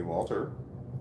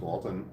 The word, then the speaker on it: Walton: uh but they have they've called me Walter my name is Walton I've had a lot of people call me Walter and like typing it